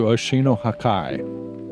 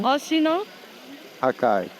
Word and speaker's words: Oshino Hakkai: And now we were going to hit the road to the Mount Fuji region to Oshino Hakkai, a historic village that is now a popular tourist destination.